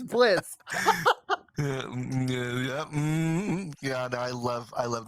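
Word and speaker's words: Blitzø: what oh my God the O silent the oh is silent it's Blitz yeah I love I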